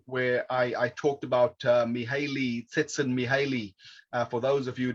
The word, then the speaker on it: Csikszentmihalyi: So I used to call it Mihaly Csikszentmihalyi, but I found out how his name was actually pronounced. So I'm trying to show off there with pronouncing it the way the Hungarians do.